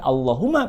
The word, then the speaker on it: Allahumma: sama-sama kita lihat sebelumnya huruf sebelum lafadz Allah humma adalah huruf Kaf yang tanda bacanya adalah Fatehah dengan demikian lafadz Allah humma pada ini dipastikan mesti kita baca dengan suara yang tebal kemudian jangan lupa walaupun